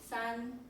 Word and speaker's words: 三: This is when you pronounce it in Chinese, it's called san.